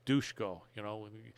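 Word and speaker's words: Duško: Dushko, they actually pronounce Dushko, I knew that.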